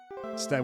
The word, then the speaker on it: Sten: Sten rhymes with friend.